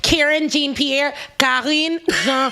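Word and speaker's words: Karine Jean-Pierre: which was calling jean-pierre if you guys want to know the pronunciation i know a lot of people are karen jean-pierre yeah so they didn't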